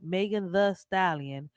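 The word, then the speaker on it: Megan Thee Stallion: as Megan the stallion pronounced Megan the stallion is an American rapper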